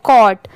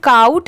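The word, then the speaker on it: caught: टी गेट ये है कॉट सी ए यू जी एच टी इसे काउट नहीं पढ़ेंगे। बहुत सारे लोग इसे गलत भी प्रोनाउंस करते हैं। बट इसकी प्रोनाउंसिएशन क्या है? कॉट। ठीक है?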